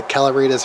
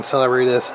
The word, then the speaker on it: Celeritas: It's pronounced, I mean, it depends on where you come from. It could be the Celeritas if you're Italian, Celeritas, Celeritas.